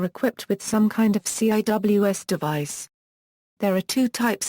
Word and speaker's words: CIWS: close-in weapon system, often pronounced CIWS, is a point defense